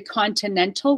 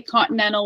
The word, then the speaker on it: continental: say Continental because they're Continental with both teas or you can say Continental with no T's because they all come after an end and T's after ends because n and T are in the same place of articulation just above the teeth because they're in the